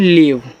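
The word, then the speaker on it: leave: एल इ ए वी इसको पढ़ते हैं लीव। तो एल से ल इ और ए से बड़ी ई की मात्रा लगती है। और वी से आपका व लास्ट वाले इ का उच्चारण होता नहीं।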